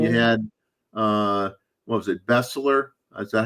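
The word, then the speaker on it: Beseler: Bessler. Is that how you pronounce it? Bessler.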